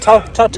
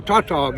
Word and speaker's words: Tautog: Tautog? Tautog.